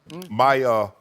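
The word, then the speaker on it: Mykhailiuk: Mikhailuk.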